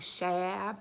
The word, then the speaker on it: Shab: I don't know if it's Shab. I'm from Chicago, so I pronounce everything with like a like Shab, but I think it's actually Shab.